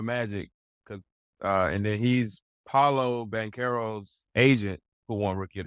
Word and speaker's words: Banchero: I have no fault about is it Banchero or I mess up the pronunciation? Banchero, yeah. Banchero.